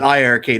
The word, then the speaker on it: iiRcade: ii arcade together or the eye arcade is i've learned to say it correctly tonight i mean everything